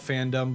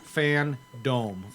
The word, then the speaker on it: FanDome: i you know i i call it fandom but it's fan dc fan dome yeah that's what i